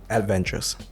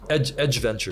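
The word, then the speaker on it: Aedge Ventures: Adventures. Yeah. Am I pronouncing it correctly? Edge Ventures.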